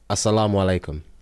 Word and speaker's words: assalamu alaikum: Assalamu alaikum.